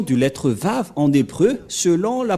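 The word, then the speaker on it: וָו: Comment on a prononcé la lettre V? Et nous allons voir la prononciation de la lettre V, c'est comme ça. Voilà le Vav. Vav ou W-A-W.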